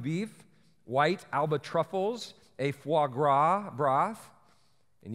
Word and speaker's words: foie gras: white Alba truffles a foie gras broth and yes that is how you pronounce it I had to look that up because otherwise it would have been for grass for this guy so I had foie